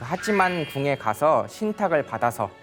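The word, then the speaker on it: 八幡: 그래서 우리나라 말로 읽으면 8번 궁, 8번 신사 이렇게 많이들 이야기를 하는데요. 그 일본어로는 그걸 이제 하찌만이라고 읽습니다. 그래서 그 하찌만 신사의 총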